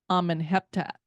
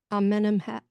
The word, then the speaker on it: Amenemhat: Some benben stones are featured in museums like the one from the pyramid of Amenhotep. I think that's how you say it. Amenemhat.